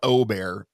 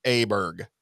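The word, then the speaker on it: Åberg: him Ludwig Aberg, that is not how you pronounce his last name. It is not Aberg. It is Aberg.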